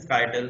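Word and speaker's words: scytale: One of the oldest known example is the Spartan skyttle. Skyttle rhymes with Italy a baton.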